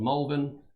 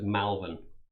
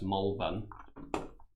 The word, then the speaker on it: Malvern: So we're based in a town called Malvern, but that's spelt with an A. So a lot of voices pronounce it as Malvern.